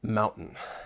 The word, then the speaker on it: mountain: T and final r Mountain this word is all about the glottal te or or glottal stop so what is that